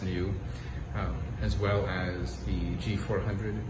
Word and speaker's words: NIU: Genuine also imports the NIU brand of electric scooters, pronounced new, as well as the